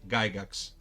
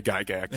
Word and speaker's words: Gygax: pronounce well your surname, Gygax. Okay. Yes, that's right. It's Gygax is correct. Perfect. It's a Swiss name, so in Switzerland it's pronounced Gygax. Gygax, yeah. But the Americans say Gygax.